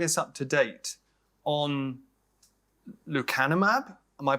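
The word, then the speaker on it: lecanemab: want to bring us up to date on lucanumab am I pronouncing it right yep the kind of map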